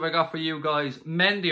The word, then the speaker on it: Mendy: got for you guys mendy or monday is probably how it's supposed to be pronounced the center back from